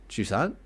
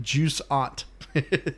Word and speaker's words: Jusant: Jusant. Okay. It sounded like you were saying like juice aunt. Juice aunt. No, it's juicy it's aunt.